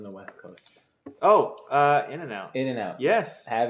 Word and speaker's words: In-N-Out: it I don't get is it pronounced In and Out Burger yeah in and out or In-N-Out burger no